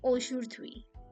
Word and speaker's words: aujourd'hui: First is aujourd'hui. How do we pronounce it?